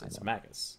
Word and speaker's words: Magus: a singular is a Magus right or a mage Mages no it's Magus it would be a hard G mag yeah so why